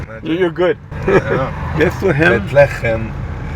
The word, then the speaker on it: Bethlehem: Bethlehem, this is the way the Hebrew language would pronounce Bethlehem, Bethlehem, and it means the house of bread, while in Arabic, Bethlehem means the house of meat.